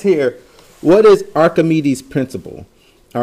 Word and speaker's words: Archimedes: do next but archimedes principle and again you pronounce his name archimedes it says it is the buoyant force on